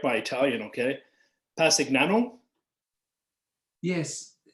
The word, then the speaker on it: Passignano: plans for the town of, I'm going to pronounce this wrong, so you correct my Italian, okay? Pasignano? Yes, Passignano.